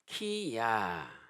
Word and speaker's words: 히스기야: 히즈키야. 그래서 히브리어로는 히즈키야 이렇게 발음이 돼요.